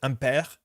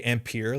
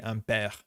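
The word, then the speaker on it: Ampère: But from my understanding, this should be pronounced Ampere. I know a lot of people want to say Ampere, like the SI unit, but that E accenté, it's an accent grave, should be Ampere.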